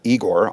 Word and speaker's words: Igor: In Russian, it's pronounced Igor.